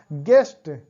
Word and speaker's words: guest: गेस्ट, अब वही ऊपर वाला जो गेस्ट से गेस्ट, GUEST, तो यहाँ पर भी GEST गेस्ट होगा, यू साइलेंट है।